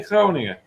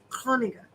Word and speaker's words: Groningen: That guttural sound. Maybe you could say Groningen. Groningen.